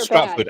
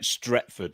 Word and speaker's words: Stretford: hear about oh sorry I said Stratford I meant stretford sorry I said it wrong from retford yeah which